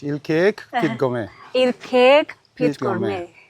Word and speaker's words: ILKeek: So guys, this is ill cake pit gourmet. Am I pronouncing it right? That's correct. Il cake pit gil cake pit gourmet.